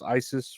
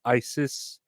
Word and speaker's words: ISIS: I guess that's ISIS, right? That's how you pronounce it. Not is. It's ISIS with the I and then the sis.